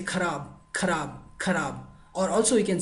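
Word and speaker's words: खराब: Bad means, in Hindi we say kharab, or also we can say bekar, alright? So let's go to the pronunciation.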